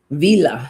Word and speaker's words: Vila: I don't think I've ever pulled Villa before. So let's see what Villa has to say. Here we go. She's almost at the very end here. Vila is actually how you pronounce her.